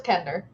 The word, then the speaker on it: Kender: Kinder. No, it's Kender. I've always heard it pronounced Kinder. K. Even in the audiobook I listened to, they called it a Kinder. My audiobook said Kender. I'm gonna keep saying Kender until.